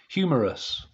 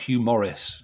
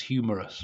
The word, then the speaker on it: Hugh Morris: I know who he is and I've seen this match I just not for good at pronouncing his name humorous not Hugh Morris it's humorous right homegrown um Booker T